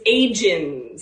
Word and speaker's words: Agens: How do you like to pronounce your last name? It's Agens.